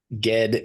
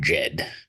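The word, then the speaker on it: Ged: yeah but uh yeah g uh it is just and and just another pronunciation thing it is pronounced G not Jed G G oh I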